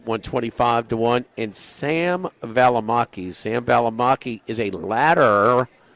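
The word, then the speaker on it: Balimaki: Valamaki. B A L I M A K I. Okay. At least it's spelled like it sounds.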